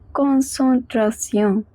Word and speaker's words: concentration: En is always pronounced as on. Tion is pronounced as sion. So we get concentration.